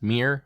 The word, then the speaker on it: Myr: a creature in Magic the Gathering and it's pronounced Mir so I'm going to say fuir uh this